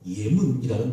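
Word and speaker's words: אמונה: 믿음은 히브리어로 예문이라는 발음인데 아멘에서 유래가 되었습니다.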